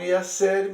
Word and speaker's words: iacere: latino iacere, que aí está escrito como iacere, mas a pronúncia é iacere, como no italiano, que significa jogar, impulsionar, mandar para, né?